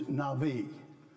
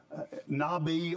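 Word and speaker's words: נָבִיא: group of prophets uh the word for profit is Navi Nabi or Navi you'll hear it pronounced both ways coming down from the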